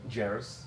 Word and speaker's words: Jairus: Jairus. Jairus? Jairus. What does everyone else say? Jairus? I have no idea. Probably Jairus, they would say. Which should be a hard A, right?